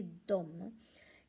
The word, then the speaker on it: de: इसका मैंने एक पहले वाले वीडियो में भी एक बताया था, यहाँ पर स्पेलिंग DE है पर इसे हम बोलेंगे डोम। इसका मतलब है वह, दे, और ये भी है डोम, DEM, इसे भी हम डोम ही बोलेंगे, उन्हें।